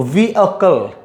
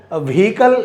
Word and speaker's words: vehicle: तो वी अकल, वी अकल, वी अकल, वी अकल. वी हिंदी में जो अकल बोलते हैं उसको प्रोनाउंस आप कर सकते हैं वी बोलकर. वी अकल, वी अकल, वी अकल, वी अकल. व्हीकल ऐसे नहीं बोलना है, व्हीकल नहीं बोलना है.